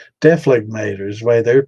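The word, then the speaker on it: dephlegmator: So, Deflegmator. That's the way I've heard it. So I guess, yeah, I guess there's different. I guess there's different ways because they definitely. I heard the G in that one, and then that was a woman's voice.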